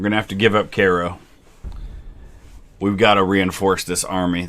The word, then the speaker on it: Cairo: to give up cairo the cairo not cairo it's cairo that's how it's pronounced man mcbride's only lost